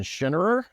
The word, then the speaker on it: Schinnerer: Schinnerer, right? That's the proper pronunciation.